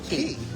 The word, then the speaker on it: Cay: And I'm like, Nathan, dude, bro, I know it's spelled C-A-Y, but it's pronounced Key.